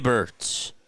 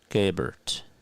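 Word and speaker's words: Keibert: Hello, Kbert. Kurt. Kbert. He just pronounced it.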